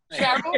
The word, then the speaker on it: Cheryl: Cheryl, like Chaim.